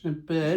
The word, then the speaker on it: Bern: Bern, That's how you pronounce it.